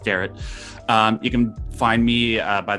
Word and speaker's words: Derrat: Some people pronounce it Derrat, and I don't hassle them for it. It's what it looks like, but it's pronounced Derrat.